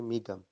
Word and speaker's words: می گویم: تبریک می گویم، لیکن تلفظ میں اس کو پڑھیں گے می گم.